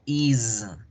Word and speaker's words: is: escribo con S, pero su pronunciación no va a ser la S, su pronunciación va a ser la Z. Entonces yo no voy a decir is, digo is. No va a ser has, yo digo has. She has a dog. Has, is.